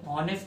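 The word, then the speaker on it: honest: या फिर आपने कुछ वर्ड पढ़े होंगे, ऑनेस्ट आता है तो ऑनेस्ट में लगा देंगे। यहां पर एच साइलेंट है, एच एम टी में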